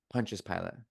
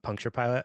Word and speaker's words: Pontius Pilate: Pontius Pilate. Oh, it's not puncture pilot.